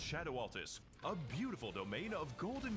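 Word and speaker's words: Scadu Altus: It It's pronounced Shadow Altus, a beautiful domain of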